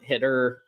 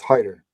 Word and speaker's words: Hider: Luke W Trey Taylor I'm sorry it's Hider my bad it's saoner Hider yes so my bad that's what it is all right so yes so Savon Hider uh is the correct pronunciation so my bad if